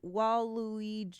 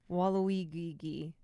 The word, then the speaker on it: Waluigi: sending you over to wall woi that is not how you say it Waluigi and you know the